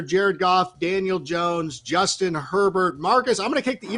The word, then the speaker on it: Herbert: go with the justin herbert this week that sounds absolutely perfect it run it rhymes with sherbert and rainbow sherbert is